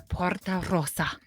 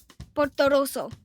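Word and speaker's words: Portorosso: poor Rosa cup the Porto Rosa no they go Roso Porto Roso oh that's how they say it that's how it's spelled though oh I see spelled Rosa but they say Roso okay well we'll give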